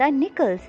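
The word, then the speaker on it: knuckles: Cracking the निकल्स, यहाँ पे निकल्स में जो फर्स्ट के है वो साइलेंट है, तो इसलिए हम बोलेंगे क्रैकिंग द निकल्स, यानी उंगलियां चटखाना।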